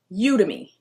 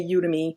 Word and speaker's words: Udemy: to start next one udemy or udemy there's an argument online about how to pronounce it I always say udemy because I think like Academy so that's why I said